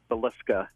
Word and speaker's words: Villisca: It's actually pronounced Villisca.